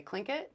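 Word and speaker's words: Tlingit: e t yeah um so that's a like if you're trying to say a t and an L at the same time but with more air yeah have you heard me try to say t so the way they say it like the way the white folks started saying it because they couldn't do that sound is they say clink it so that's what you'll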